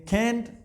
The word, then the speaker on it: can't: अब दो तरीके आपने ध्यान में रखें, कैंट, कांट, ये तो ऐसे प्रोनाउंस किया जाएगा, आई कैन, आई कांट, right.